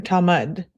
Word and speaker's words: Talmud: Is it Talmud or Talmud?